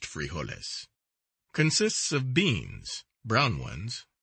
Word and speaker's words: frijoles: dinner or supper is frijoles pronounced frijoles consists of beans brown